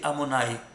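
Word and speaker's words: Adonai: Le nom de Dieu, 26, qui s'écrit 26, mais qui se lit Amonai. Comment c'est Amonai?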